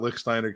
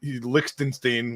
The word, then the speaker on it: Lichtsteiner: all the time about Lichtsteiner, because he couldn't pronounce the name. So, Lichtenstein was constantly what he would say, and he would just